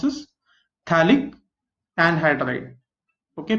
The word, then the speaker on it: phthalic: Phthalic anhydride. Okay, pH is generally silent, or you can see it can have the pronunciation of F.